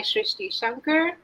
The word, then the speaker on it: Srishti Shankar: connected Society so today I shrishti Shanker that's how I pronounce my name and I have my